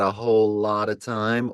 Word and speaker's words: Holotta Tymes: you say your name you say it like whole I got a whole lot of time or yeah a a lot of times uh a lot of